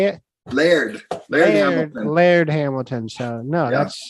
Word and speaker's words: Laird: I feel like I always used to say Lard. How do you say it? Laird Hamilton.